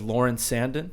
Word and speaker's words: Lauren Sanden: again um and our special guest today is lauren sandon did i pronounce that correctly yes you did yes lauren